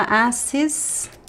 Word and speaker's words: assistiu: E ela assistiu. So assistir is regular, but it's from a different group of regular verbs. So the conjugation is different. The stress is at the end.